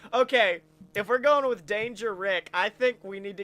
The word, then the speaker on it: Däängerick: I'm gonna say a syllable, and then you just follow it up with a random ending syllable. Dan. Sure. And you'd think you should follow it up with Dan, but no, it's Rick.